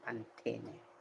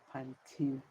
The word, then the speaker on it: Pantene: In Spanish, we pronounce every letter of the word. So, we say Pantene. In English, we call it Pantene.